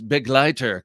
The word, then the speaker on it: Begleiter: Finally, someone pronounces Begleiter correctly. And he laughs. And Begleiter is German. I don't know what it means, but I can just see from how it's spelled. And I took German in high school. So I just presumed that I was pronouncing it correctly, but it's good to hear from Hollywood Tactical that indeed I am.